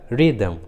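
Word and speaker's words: rhythm: उसी तरह रिदम, राइम, देखिए दोनों इंग्लिश वर्ड्स में एच आर के बाद आया है, इसलिए रूल के अनुसार एच का उच्चारण नहीं हुआ है, एच साइलेंट है। रिदम एंड राइम।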